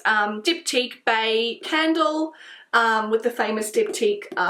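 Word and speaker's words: Baies: So this is the Diptyque Bae Candle, so not B-A-E, it's B-A-I-E-S, it's spelt.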